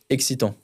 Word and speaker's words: excitant: Excitant.